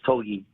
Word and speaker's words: Togi: It's Togi, just like that, Togi.